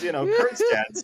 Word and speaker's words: Kurkjian: I'm just double checking, and Kevin says, Kurkjian, silent J, and Sean goes, that's what I was hoping for all those games with Billis, silent J.